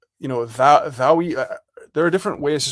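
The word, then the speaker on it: daoi: It's like, Thaui.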